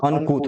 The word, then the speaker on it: uncouth: अनकूथ, इसका pronunciation UNCOUTH, इसका pronunciation क्या होगा, अनकूथ होगा।